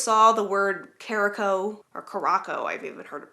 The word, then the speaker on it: Caraco: of 18th century jacket, I read it as Curacao, like Curacao, the Caribbean island. But it is not that. It is Caraco.